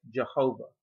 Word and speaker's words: Jehovah: In English, it's pronounced as Jehovah.